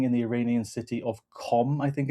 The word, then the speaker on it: Qom: Reports suggest that Israel even struck a building in the Iranian city of Qom, I think it's pronounced, where senior clerics were meeting to discuss and to choose the next supreme leader.